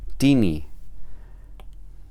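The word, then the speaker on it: τινι: la nu del tema, entonces se queda en la misma línea y se pronuncia tini.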